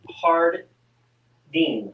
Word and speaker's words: Jardine: it's yes it's pronounced hard dean jardine so so the j is an h yes but i need